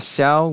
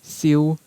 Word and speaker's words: Xiao: And so Japanese borrowed it as an aspirated K. And then we have Xiao, which in Cantonese is Xiu, Xiu.